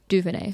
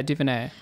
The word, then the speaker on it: DuVernay: DuVernay. Yeah, DuVernay. As far as I know. What DuVernay has delivered, this is a review left by Ryan Gilby for New Statesman. What DuVernay has delivered is essentially a feature-length screensaver which